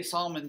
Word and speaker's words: Salmon: Now, why do I say Salmon Chase? Well, there's both. There actually is, and that's pronounced salmon, even though it's spelled like salmon, as in the fish.